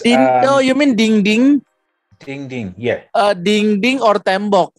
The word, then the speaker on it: dinding: So dinding is dinding. Yeah, ding din, like D-E-N, right? D-E-N is like din, and ding. Then the second syllable ding.